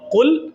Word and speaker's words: قل: ہم کہتے ہیں قل هو اللہ احد، قل آپ کہہ دیجئے، آپ قاف کو باریک پڑھیے، کل کا مطلب ہے آپ کھائیے، تب معنی ہی تبدیل ہو جائے گا۔ تو قرآن پاک کو